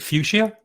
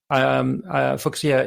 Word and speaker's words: Fuchsia: Let me just say, by the way, in English we pronounce it Fuchsia, Fuchsia in German, of course, and we can debate as to who has that correct.